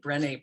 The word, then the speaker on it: Brené: Yes, Brené Brown. So that's how you spell it. It doesn't always have the accent on the second E but that's how it sounds in French.